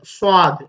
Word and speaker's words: صاد: இந்த உச்சரிப்பை ஆங்கிலத்திலோ தமிழிலோ சரியாக மொழிவது கஷ்டம். இருந்தாலும் சாது என்று நாங்கள் இதனை சொல்கின்றோம். உண்மையில் அது மிக ஒரு கடினமான உச்சரிப்பை கொண்ட ஒரு எழுத்து அரபு மொழியில. சுவாது என்று சொல்ல வேண்டும்.